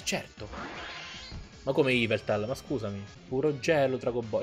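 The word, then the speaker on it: Yveltal: Povero Iveltal. Per essere... Oh, Iveltal, l'accento è su Evil, malvagio.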